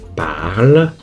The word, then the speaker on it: parle: plus e prononciation e le E pas de prononciation je parle parle P